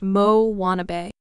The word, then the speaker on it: Moanabe: On the fictional South Pacific islet of Motunui, there now exists a variety of tween girl known as the Moanabe, pronounced Mo Wannabe.